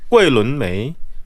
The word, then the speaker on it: 桂纶镁: 발음을 다시 한번. 桂纶镁, 周杰伦.